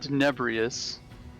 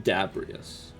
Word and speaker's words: Dabrias: If there's any historical records on that in this shop, I believe you mean Dabrias. Yes, Dabrias. You are absolutely correct. I've been saying it wrong the whole time.